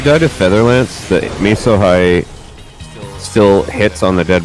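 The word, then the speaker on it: Mesohigh: I think it's pronounced Meso High, by the way. Because a Meso Cyclone is like a giant storm system.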